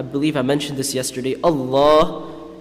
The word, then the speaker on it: Allah: I mentioned this yesterday Allah is pronounced Morocco is pronounced full mouth Allah because it has a Fatah or Adama before it so when pronouncing Allah